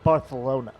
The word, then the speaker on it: Barcelona: Actually, it's pronounced Barcelona.